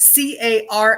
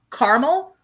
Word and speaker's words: caramel: you pronounce this word c-a-r-a-m-e-l um caramel or caramel you know it kind of just depends on what mood i'm in but i don't generally